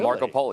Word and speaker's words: Markopolos: details that's what Harry Markopolos that's how they're telling us to pronounce his name Marco Polo yes we've been getting it wrong for the last few